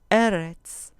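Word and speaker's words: אֶרֶץ: Eretz, eretz. Con acento en la penúltima sílaba.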